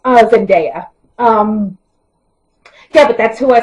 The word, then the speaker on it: Zendaya: I'm sorry, I don't know why I pronounced her name wrong. Zendaya.